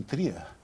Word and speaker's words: Trier: Cal Marques, ele nasceu em Tria, alguns falam Trier, depende da pronúncia, né?